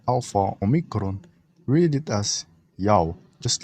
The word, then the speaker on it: Ya'oh: the divider was written to make sure it's pronounced correctly as it should be, Yao. Moving on to another basis that his name is pronounced Yao is when one of the greatest historians named